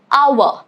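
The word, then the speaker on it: hour: Rule number two is it is silent at the beginning of words often when succeeded by letter O. For example, our or honest. You do not say it as honest. It is honest.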